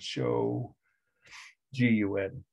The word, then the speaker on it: shogun: way they were called shoguns some of you know that word right shogun has said show gun local or regional rulers